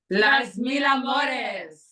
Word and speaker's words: Las Mil Amores: How do you guys pronounce it? Las Mil Amores? Las Mil Amores.